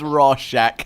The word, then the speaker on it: Rorschach: It's Rorschach.